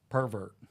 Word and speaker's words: pervert: noun or verb and we use it as a noun it we put the emphasis on the first syllable pervert right you know and